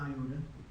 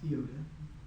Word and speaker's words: iota: And then iota, and you probably call it iota, but it's pronounced iota. Okay? It's just an I.